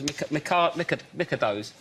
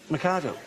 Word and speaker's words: Mikado: Those Micados. Mikado.